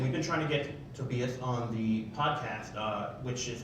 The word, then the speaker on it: Tobias: I'm the guy who's been mispronouncing Tobias's name for the last 15 years.